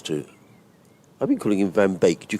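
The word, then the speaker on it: van Beek: I've been calling him Van Bake. Do you call it Van Bake as in Baker Cake?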